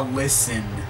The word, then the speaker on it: listen: actually says I'm a listen you don't pronounce the T and listen young dog